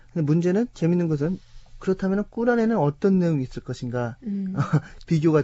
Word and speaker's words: 꾸란: 자, 오늘 금요일 이슬람 알아보는 시간 선교사 이정순 씨 모시고 저희들은 이제 코란이라고 발음을 했었는데 자, 꿀안 그리고 또 구약 성경과 그 차이점이 더 해석하는 방향이 다르다고 합니다.